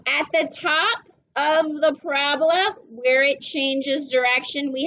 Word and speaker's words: parabola: Okay, P-A-R-A-B-O-L-A. It's kind of spelled like a disease, right? We want to call it a parabola, but it is a parabola.